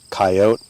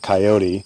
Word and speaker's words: coyote: comes from based on how they pronounce the word kyote or coyote okay um and the people that pronounce the word coyote almost always are coming from cities it's an urban kind of uh people who prounce it coyote are much more likely to come from rural places places like where we